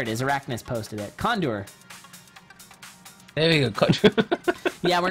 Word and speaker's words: CoNDOR: how to say cond condure oh he's my bad condur you have to say it kind of French cond there you go